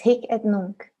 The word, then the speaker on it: Hic et nunc: And by the way, is it right, 힉엣눈크? I'm not sure of pronunciation. Yeah, it's 힉엣눈크. You pronounce it correctly.